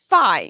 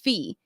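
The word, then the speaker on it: Fae: Hunter by selenia Goldenberg apparently it's not pronounced fi it's pronounced fee thanks to the audio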